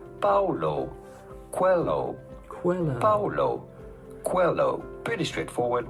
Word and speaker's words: Coelho: How do you go about pronouncing his name? Paulo Coelho.